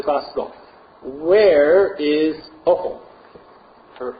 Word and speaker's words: Ophel: Where is Ophel? Or O-P-H-E-L. I might be saying it wrong, but I say Ophel because it sounds better than awful.